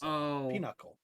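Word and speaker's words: pinochle: modified deck um oh it's spelled like Pinocchio but it's not it's peanuckle peanuckle yeah you know how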